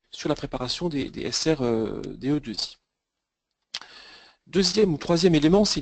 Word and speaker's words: SRDEII: cette cette conférence donc on prononce plutôt SRDE 2i on l'écrit avec avec